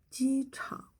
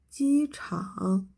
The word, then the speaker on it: 机场: But when a first tone plus the third tone, the latter half of the third tone won't rise up.